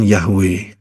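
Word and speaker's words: Yahweh: ya itu ada nikutnya jadi itu keliru saudara ya bukan Yehova tetapi yahwe ya terbukti dari setiap kali kita mengucapkan Haleluya bukan haleluy Betul kan kalau kan halelu Yehova tapi yang kita lakukan adalah Haleluya di seluruh dunia ngomongnya Haleluya yaitu yahwe jadi itu yang betul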